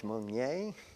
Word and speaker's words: Monie: Well, I'm Monie, M-O-N-I-E. It's a French name, usually mispronounced Monie.